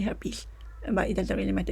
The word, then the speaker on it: herpes: some people say helped some people say her piece but the actual or the correct pronunciation is actually herpes but it doesn't really